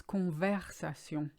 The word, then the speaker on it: conversation: verb convex aciem that's one of the most butchered ones I hear it's not converse aciem it's conversation the middle Eve alibi our ice is an